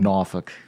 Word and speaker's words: Norfolk: I grew up in Norfolk Virginia in a suburban neighborhood and with a lot of kids that lived on the block and pronounce that name again Norfolk but I'm that's the native pronunciation offic take more geography